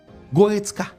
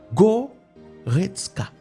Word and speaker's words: Goretzka: Goretzka. Vous entendez? Goretzka. 3 syllabes.